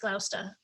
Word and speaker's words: Gloucester: a yacht in the fashion of the fast gloucester fishing schooners of the day and robust enough to bring them into the north atlantic and side note i am from the boston area it is pronounced glausta so we do know that zodiac was a